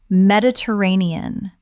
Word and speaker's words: Mediterranean: Mediterranean. Common mispronunciation. Med-it-er-a-ne-an. Correct pronunciation. Med-i-ter-ra-ne-an. Six syllables with the stress on the fourth.